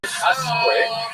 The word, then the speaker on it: Usque: So I would guess the subject of tonight's lecture is Samuel Usque. However, I looked it up online. They said Usque, which seems to me